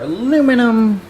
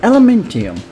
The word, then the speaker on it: aluminum: we doing we need our aluminum or as the brits say elementium which i think is actually kind of cool so what we're going